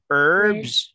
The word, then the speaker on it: herbs: herbs this one herbs herbs they don't pronounce h you don't pronounce letter h so you say herbs herbs okay fruit broth gross